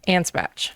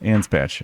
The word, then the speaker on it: Anspach: How do I pronounce your last name? Ansbatch. Ansbatch. Is that how everyone's supposed to pronounce it or They don't always pronounce it right. It's usually off. Ansbatch.